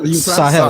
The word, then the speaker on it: Sahel: Do you know what Sahel is? I'm from the Sahel. Right. So is that how you pronounce that word? I can't pronounce it right. Sahel, yeah, that's correct.